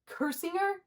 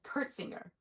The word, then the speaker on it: Kursinger: There's this one guy I worked with, and his last name is Kursinger, and I said Kurtzinger.